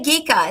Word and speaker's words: Gika: Oh, okay Gika. It's It's pronounced Oh, she commented. So, thank you very much. It's pronounced Gika.